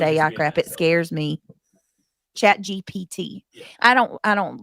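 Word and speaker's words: ChatGPT: Uh Gabby says, "I'm smarter than chat GBT."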